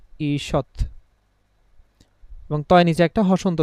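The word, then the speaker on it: ঈষৎ: যেমন একটা শব্দ দেখেন আমরা বললাম ঈশৎ হ্যা এখানে দীর্ঘই আছে। তো আমাদের নিয়ম অনুযায়ী কি? রস দীর্ঘ যেটাই থাকুক কি হয়ে যাবে? রসয়। তাহলে আমরা যখন এটার উচ্চারণটা লিখতে যাব ব্র্যাকেটে আমরা লিখবো ইসৎ এবং তয় নিচে একটা হসন্ত দিলাম।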